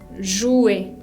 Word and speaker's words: jouer: También otro ejemplo es el verbo jugar, jouer.